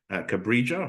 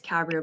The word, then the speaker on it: Cabria: Cabrija, hopefully. I've pronounced that correctly. It's Cabria, but it's not a worry at all.